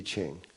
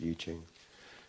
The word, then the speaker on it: I Ching: want to study it in detail read the iching out of china the iching some people say i ching but it's actually pronounced yuching it's the book of changes there are uh